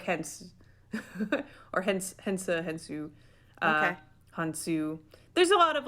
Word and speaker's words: Khonsu: So they call him Khonsu in the show. I googled it, and I think it actually is pronounced more like Hensu or it's spelled with a K.